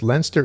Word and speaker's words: Leinster: Leinster, and yes, Leinster is the pronunciation according to the SF Encyclopedia. This book I had been planning to read this month, went to the side because I'm going to read Murray Leinster.